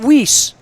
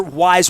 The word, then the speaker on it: Weis: of Perry Hall and we didn't even know how to say it we called it whis you know I didn't I just didn't know there were no other wise markets around and really